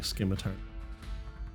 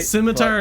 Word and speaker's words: scimitar: know which is right scimitar is the correct way to say it but i just i i say skim because it's funny because there's an h in there i don't like it